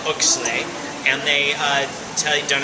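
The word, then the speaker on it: Oechsle: yeah so they measure the sugar they call oay and they uh tell don't ask me how to spell it um o e c h s l e oay I think that might be right okay uh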